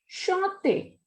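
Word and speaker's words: chanté: If there is accent on last E, then we will pronounce it as chante.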